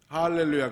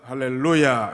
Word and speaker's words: 할렐루야: 할는 로의 있어요 그래서 정상적인 바람은 알렐루야 가 아니라 할렐루야 이렇게 해야 정상적인 발음이 한번 따라서 흡사 할렐루야 f